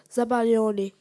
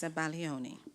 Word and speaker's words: zabaglione: Khalil, your word is zabaglione. Can I have the definition? It's a kind of Italian dessert. Can you use it in a sentence? Zabaglione is made from egg yolks, sugar, and wine, whipped and heated.